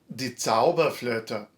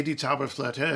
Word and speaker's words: die Zauberflöte: So, die Zauberflöte, the magic flute. Okay, you can say die Zauberflöte if you want, die Zauberflöte, or you could just say the magic flute, but it's the Zauberflöte.